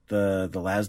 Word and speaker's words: las: 8th edition now, the las rifles, which I will always pronounce with a long A because that is how words work. Even though it comes from laser rifle.